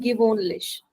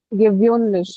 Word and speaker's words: gewöhnlich: Gewohnheit und gewöhnlich. Gewöhnlich, ja? Gewohnheit is correct, but the adjective, Gewohnheit. yeah, but the adjective has an umlaut. Gewöhnlich.